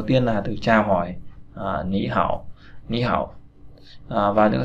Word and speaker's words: 你好: cửa, tí y cửa, ni hao, là ni hao. Thực ra là ni hao nhưng mà ta sẽ đọc là ni hao, biến âm.